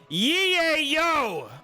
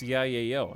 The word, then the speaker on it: yayo: the reinforced barrel it's pronounced ye yo why is it why would it be pronounced that way first of all no one says it like that and second of all why are you yelling it's pronounced yay yo exactly headless they even have a song where it's yay yo yeah exactly chad knows